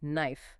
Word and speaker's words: knife: similar anatomical simplification in words like knife, night, and gnaw. With the silent K and G. Yes. Hundreds of years ago, the initial K and G in those words were fully pronounced.